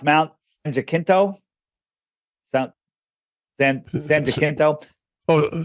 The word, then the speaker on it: San Jacinto: Is it pronounced Mount San Jacinto? San Jacinto? Oh, San Jacinto. San Jacinto. Okay. Well, that's another pronunciation.